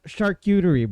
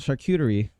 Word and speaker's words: charcuterie: her because it's a it's a very hard word to pronounce it's uh it it derives from it it derives from the French word uh from the